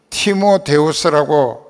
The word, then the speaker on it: 티모데우스: 그 티모데우스라고 하는 말이 원래 발음인데, 티모라고 하는 말은 이제 공경한다, 섬긴다 하는 뜻이고, 그리고 데우스라고 하는 말은 하나님이란 뜻입니다.